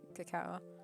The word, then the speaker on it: cacao: and belize and like found out it was actually kakao it's not that hard to say yeah in greek we're